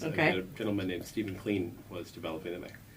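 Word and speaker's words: Kleene: A gentleman named Stephen Klein was developing them. Kleina. Stephen Kleina. Ah. I learned from some Europeans last fall how to pronounce that properly.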